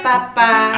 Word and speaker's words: papá: parte que dice para papá, así pero es. Con un acento, acento en la última, que es como para papá.